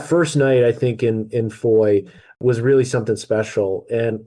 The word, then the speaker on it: Foix: Yeah, so after La Roche, we hightailed it to our Airbnb, which was in the town of Foy, or Foix, as it's correctly pronounced, I believe.